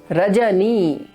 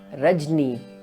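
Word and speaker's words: रजनी: Rajani, and most probably a North Indian person will pronounce it as Rajni and not Rajani.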